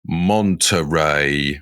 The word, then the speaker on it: Monterey: I just looked I asked the lady, Monterey.